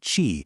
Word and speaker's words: qi: Okay, so before we go any further, we have to get on the same page about a concept called chi. You pronounce itqi.